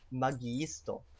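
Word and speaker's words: magiisto: as two eyes there when you encounter two eyes in Esperanto you actually have to pronounce both so it's Maggie store you notice it's ii ii gotta hit both of those eyes okay the next one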